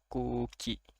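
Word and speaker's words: くうき: Jadi ini dibacanya jadi panjang, ku-nya jadi kuki, kuki artinya udara.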